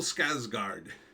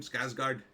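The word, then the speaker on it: Skarsgård: rain so I think we're good anyhow bill skard is how you say his name skougard um he's the crow and look he's okay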